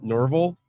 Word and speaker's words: Norville: says it's pronounced like Orville. There we go. Norville.